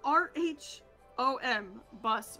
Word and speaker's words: rhombus: It's spelled R-H-O-M. Bus. Rhombus. Oh R. God. And it sounds rom.